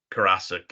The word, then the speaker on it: Karasik: Karasik is how they say it on the automated phone at sba.gov.